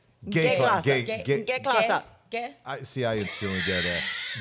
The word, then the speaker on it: G-Klasse: But they almost say it like gay. Gay-Klasse.